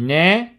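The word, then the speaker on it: Ney: ottobre ma ho piazzato solo il corpo di né delle volte dico nei ma in realtà se vogliamo rispettare le pronuncia n e il corpo di riesch che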